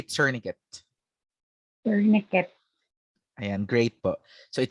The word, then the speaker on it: tourniquet: yes you heard me right it shouldn't be pronounced as tourney k but rather cerniket by taya guys everybody say tourniquet i am grateful so it should be tourniquet